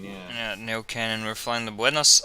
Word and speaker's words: Neuquén: Neuquén, yeah. Yeah, Neuquén, and we're flying the Buenos Aires Aeroparque in Norwegian, Argentina, Zibo mod, the most ass airline, the least ass aircraft.